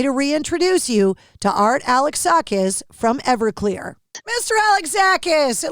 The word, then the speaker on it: Alexakis: So allow me to reintroduce you to Art Alexakis from Everclear. Mr. Alexakis, it looks like you're on the tour bus. It's Alexakis. Alexakis. Yes, I'm sorry. No, there's no Z. Alexakis. Alexakis.